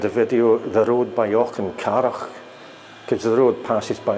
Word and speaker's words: Auchencarroch: It's worth doing a video just so that you can say the word Auchencarroch. It's kind of perhaps a typical Scottish word. The C and the H aren't pronounced K.